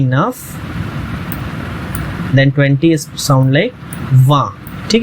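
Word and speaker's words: vingt: Then 20 sound like वा। ठीक है, इसे आप बहुत अच्छे से प्रोनाउंस करना है। बहुत लोग इसे वेंट पढ़ते हैं but that's a wrong pronunciation, it's वा।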